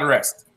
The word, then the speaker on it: wrest: from someone's grasp rest how do you spell that rest w-r-e-s-t w-r-e-s-t what does it sound like rest to put on a